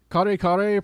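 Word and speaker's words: kare-kare: It's kare kare pronounced with two syllables and ray is spelled like oh car.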